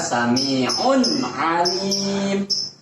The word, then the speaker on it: Sami'un alim: Jadi bacanya bukan sami'un alim. Salah. Yang benar sami'un alim.